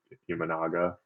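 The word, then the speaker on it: Imanaga: And forgive me if I pronounce his name wrong, but Ianaga.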